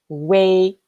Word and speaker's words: ui: yo as in Li Li and UI we pronounce it way way as in Ah that's so interesting so